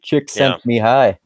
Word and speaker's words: Csikszentmihalyi: name guy yeah yeah yeah it's his actual pronunciation of his name is actually easy to remember because it sounds so funny chicks out me hi chicks at me honey it's like a really bad Foghat song you